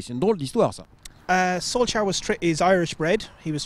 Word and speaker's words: Solsjkaer: Solsjkaer is Irish bred.